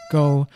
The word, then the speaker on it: 糕: Taro cake is pronounced wu tou go in Cantonese. The words for cake and hai share the same pronunciation, go, which is why taro cake and other cake